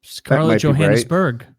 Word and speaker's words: Johannesburg: Like uh um Scarlett Johannes Johannesburg. Yeah, that's a sound. I think you left out a syllable, Kyle.